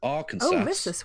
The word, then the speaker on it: Arkansas: on sleeping in bentonville arkansas yeah that's right i'm pronouncing it this one it's arkansas okay decades anyway crew removed